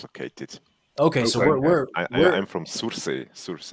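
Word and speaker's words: Sursee: Okay, so I'm from Surse.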